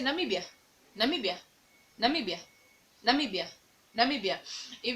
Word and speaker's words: Namibia: you're saying a word like namibia just say namibia namibia namibia namibia namibia if you're saying the